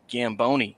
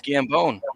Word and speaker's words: Gambone: name is Gambone, and everybody loves to pronounce it Gamboni for some reason. So I always got to tell them, no, it's Gambone, like bones.